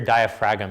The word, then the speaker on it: diaphragm: cage right where your diaphragm is that's how you say it right it's got the G in it the G is in